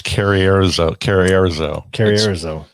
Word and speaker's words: Carrizozo: Carrizozo? New Mexico? I've been there. It's Carrierizo. If you Google it and ask them to tell you, but it tells you in different ways.